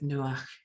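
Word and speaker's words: נוח: dare say the subtitle widget will struggle with nuach so i will spell it to save any confusion and in english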